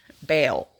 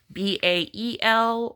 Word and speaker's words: Baal: Baal. That's how I pronounced it. Baal or Baal. The cult of Baal, the cult of Baal. Bael or Baal.